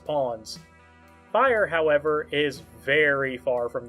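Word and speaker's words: Phyre: You may call me Fire or Fire spelled with a phy is who you'll be playing as.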